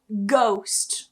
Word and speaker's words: ghost: However, if you get gh at the start of a word, it's still pronounced. So for example, ghost. We don't remove the g, it's still there. Ghost.